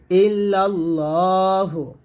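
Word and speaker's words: إلا الله: তিনটা দিবেন লা ইলাহা ইল্লাল্লাহু ইল্লাল্লাহ না বলে ল বলবেন এটা মোটা করবেন ইল্লাল্লাহু ওয়াহদাহু ওয়াহা জবর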